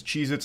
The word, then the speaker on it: Cheez-It: Cheez-Its, and I'm still saying it wrong. Cheez-Its never existed. They have always been Cheez-It, not plural.